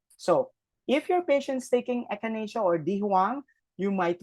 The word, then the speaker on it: echinacea: This is pronounced as echinacea.